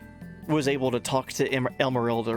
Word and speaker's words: Emeralda: Pronounced Jessica, thank you, Dr. Barber. Also, hey buddy. Emeralda.